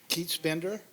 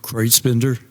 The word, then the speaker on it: Kreutzbender: any questions thank you thanks keatsbender and will have to pronounce his name see how close i came welcome thank you yeah my name is kreutzbender 1317 northeast ninth avenue